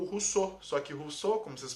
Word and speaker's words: Rousseau: o filósofo que ele mais gostou foi o Rousseau só que Rousseau como vocês podem ver aqui